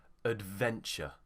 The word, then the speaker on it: adventure: the schwa here also it would be ud ud adventure adventure so just remember anytime a